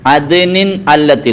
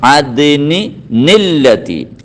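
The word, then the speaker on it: عَدْنٍ الَّتِي: അദ്നിനില്ലതി, അവിടെ ഉള്ളത് അദ്നിൻ അല്ലത്തി എന്നാണ്. അങ്ങനെയല്ല ഓതേണ്ടത്. അവിടെ അദ്നിൻ എന്നതിന് ഒരു തൻവീൻ അങ്ങ് കളയണം. എന്നിട്ട് അദ്നി, നമ്മളെ ഭാഗം ഒരു നൂന് ചേർത്തി കൊടുക്കണം. അദ്നി നില്ലത്തി, അദ്നി നില്ലത്തി.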